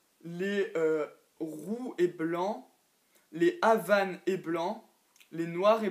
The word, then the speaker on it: Havane: Alors, au tout summum, il y a le Havane, la couleur Havane, comme ma lapine Havane qu'il y avait avant.